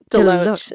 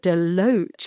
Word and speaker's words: DeLoach: to harvest in the cellar at, do you pronounce it DeLoach? DeLoach. DeLoach.